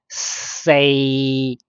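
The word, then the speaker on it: 四: And then next number 4 in Cantonese will be pronounced say. Say. Its tone 3 is equal to 3, 3 mid level.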